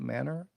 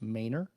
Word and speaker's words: Manor: was mispronouncing it previously when i called it manner my understanding it is properly pronounced manor between manor and our planned overnight friday night